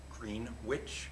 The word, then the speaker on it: Greenwich: Caitlin Vandewater is from Greenwich, pronounced Greenwich, it says.